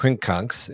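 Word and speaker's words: quincunx: Quinkunks, which is Yeah. how it's pronounced.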